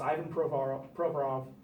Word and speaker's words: Provorov: And now this year, it just basically every pick that Ron Hextall has made in the first couple of rounds, Ivan Provorov, the proper Russian pronunciation, and Travis Konechny, both in the first round this year, and people are just lauding them.